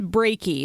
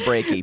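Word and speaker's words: Breakey: I believe it's Brakey. His first name is Norman, so maybe we'll just call him Norman. Norman from now on. Brakey, as in heartbreaky. Yes, this is Yeah.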